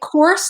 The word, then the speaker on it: Korse: Do you say it like Korse, like Morse, but with a K? You do. You say it like horse.